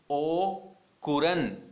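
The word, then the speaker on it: au courant: या फिर इसको बोल सकते हैं ओ कुरन, यहां पर भी टी साइलेंट है, ओ कुरन, या फिर एब्रेस्ट, या फिर अप ऑन।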